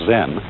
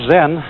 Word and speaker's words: Zen: Zen, of course, is a Japanese word, and it's spelled Z-E-N. And that is the Japanese way of pronouncing the Chinese word Chan. And this, in turn, is the Chinese way of pronouncing an Indian Sanskrit word, jnana.